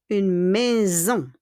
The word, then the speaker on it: maison: Il bâtisse une maison. Il bâtisse une maison. Look at bâtisse, double S, but S. Une maison, il y a S au milieu, in the middle, but we pronounce it as Z.